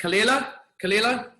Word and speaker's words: Kalila: Is it Kalila? Is that saying it right? Yeah.